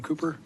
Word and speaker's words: Kuper: doc how do you say your last name cooper cooper cooper Dr Cooper yes thank you for